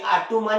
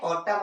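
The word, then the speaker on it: autumn: जैसे एक स्पेलिंग देखिए यहाँ लिखी है ऑटम, और दूसरी देखिए कॉलम, तो इसे हम लोग ऐसा नहीं बोलते आटूमन या कालूमन, क्या पढ़ते हैं, ऑटम और कॉलम, क्योंकि M के बाद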